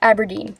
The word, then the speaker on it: Aberdeen: These are the Berkley, how do you pronounce that? Aberdeen? Aberdeen, that's right.